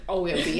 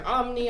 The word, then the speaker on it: OMBI: I mean, I hear OMBI, I hear OMNI. I'm like, no, it's OMBI.